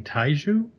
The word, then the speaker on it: Taijitu: So, but yeah, the snake, I'm not going to even try and say it, but King Taiju? It's Tajitu.